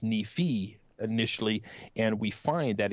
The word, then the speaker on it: Nephi: have pronounced this as Nephi, but sometimes the I on the end of Nephi can be pronounced as an E, as a long E.